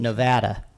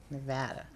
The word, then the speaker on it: Nevada: What is the proper pronunciation? Nevada. Nevada. Nevada. Right. Not Nevada.